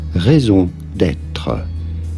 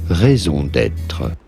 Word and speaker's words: raison d'être: How do you go about pronouncing it? For reference, in French we would say it as raison d'être. Raison d'être.